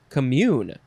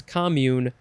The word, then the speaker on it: commune: we have two forms the first form is pronounced commune because it is a verb and the second form is commune or commune uh that because that is a